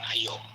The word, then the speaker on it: Io: our solar system is EO or IO. It depends upon how do you pronounce that, EO or IO or IAO.